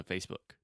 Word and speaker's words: Facebook: A lot of my students try to say Facebook and they're saying the oo sound like azul, atum, but it's just like put, push. So Facebook.